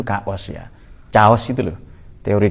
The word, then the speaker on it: chaos: Tapi cara baca kita chaos. Sebenarnya dalam bahasa yang benar, bahasa Latin itu kaos ya.